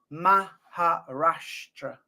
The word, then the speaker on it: Maharashtra: it right m a h ma harashra so it's spelled m a h a r a s h t r a and it's pronounced maharashtra maharashtra My uh Punjab is coming on very well.